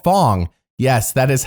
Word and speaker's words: Fang: hot mess oh they're hot mess they're called Fong yes that is how they're pronounced though later on the tribe will be like can we be called fang we don't like the word Fong so it's